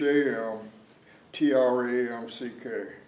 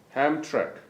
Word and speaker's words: Hamtramck: high school hampton hem trump hamtramck could you spell it h.a.m t-r-a-m-c-k a-m-c-k uh-huh ham track hamtramck hamtramck high school michigan and what year